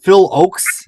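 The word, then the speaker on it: Phil Ochs: It was a live concert with James Taylor, Joni Mitchell, and Phil Oakes.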